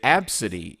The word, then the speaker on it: Abcde: However, did you know that Absidy in this case is spelled ABCDE?